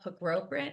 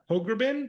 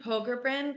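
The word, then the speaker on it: Pogrebin: takes two to Torah which is by Abigail Proprit. I cannot say her name correctly. She spoke here a couple years ago before you were here with her. Yeah. Hogrbin. Hogerin.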